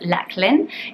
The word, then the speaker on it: Lachlan: and that's the name Lachlan. So Lachlan is lovely. It's sometimes pronounced Lachlan in the US, but it's a traditional Scottish name, Loch being very famous, like Loch Lomond, meaning lake.